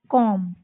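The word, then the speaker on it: comb: तो इसमें भी क्या हो जाएगा? बी साइलेंट हो जाएगा। और हम इसको क्या प्रोनाउंस करेंगे? क्या उच्चारित करेंगे? कॉम। क्या करेंगे?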